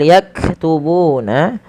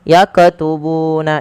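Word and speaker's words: يكتبون: Kemudian pada lafal yaktubuna, huruf kaf yang berharokat sukun, hati-hati di dalam melafalkannya, jangan sampai terpantulkan. Contoh, yakatubuna itu memantul.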